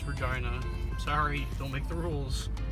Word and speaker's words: Regina: salve regina university for college that's how you pronounce it it's not regina it's regina sorry don't make the rules and it is